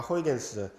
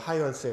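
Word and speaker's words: Huygens: 그러니까 당대 출신의 자연 철학인 데카르트와 호이겐스, 사실 정확한 발음은 하이언스에 가까운데 이론의 정통에 있었고 그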